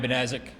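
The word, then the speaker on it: Banaszak: I am Benazik, Director of Public Safety for the city of Sturgis. Last name is spelled B as in boy, A-N-A-S, Z as in zebra, A-K.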